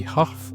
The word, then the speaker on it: Haugh: I pronounce it whole. It can also be Huff or who, but I prefer Hobburn.